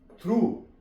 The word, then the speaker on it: through: थ्रू, THROUGH, जी silent है यहाँ पे।